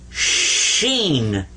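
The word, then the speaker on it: ش: then sheen like this now here you've got three dots and you've got the three stems coming up now this one is seen like a regular s and this one is sheen there you are now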